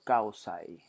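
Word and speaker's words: kausay: about the the first one is called kausai so is is written down like this and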